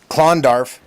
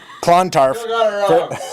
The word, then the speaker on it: Clontarf: I've been trying to pronounce Clondarf. Clontarf.